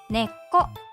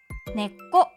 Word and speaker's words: 根っこ: そして即音根っこ少しだけ息を止めるような言い方をします。